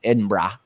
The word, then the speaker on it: Edinburgh: Edinburgh Edinburgh Edinburgh.